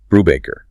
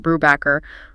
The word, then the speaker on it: Brubacher: always had in Ontario, Brubacher. Hasten, the proud fourth-generation Austrian industrialist, stops him cold. He corrects him using Sebastian Bach as an example, making it clear. Respect the heritage, pronounce it Brubacher, or this interview is over.